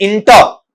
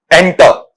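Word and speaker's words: enter: अब गलती क्या होती है, अपन इसे पढ़ जाते हैं इंटर, इंटर, इंटर नहीं होता बेटा, इसका उच्चारण वहां पर क्या रहेगा, एंटर, इंटर नहीं, एंटर, एंटर, इस तरीके से पढ़ा जाएगा।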